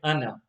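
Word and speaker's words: أنا: but actually and now after the noon there's an alif that alif is not read so rather than reading ana it will be read okay in all three boxes it's red anna so let's read box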